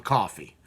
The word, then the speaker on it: Coffey: first book named John Coffey. Coffee, just like the drink, but not spelled the same.